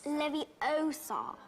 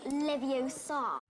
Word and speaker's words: Leviosa: Besides, you're saying it wrong. It's Leviosa, not Leviosa.